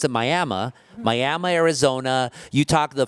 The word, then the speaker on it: Miami: We're talking about people like Esteban Torres, the former council member who was born in Miami, but you don't pronounce it Miami. You pronounce it Miami.